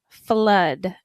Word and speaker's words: flood: Flood. And pay attention to the pronunciation there.